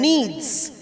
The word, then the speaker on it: kneads: The wife mixes and kneads, K-N-E-A-D-S, pronounced as N-E-E-D-S, same pronunciation. Kneads, although we start with K, we are saying kneads.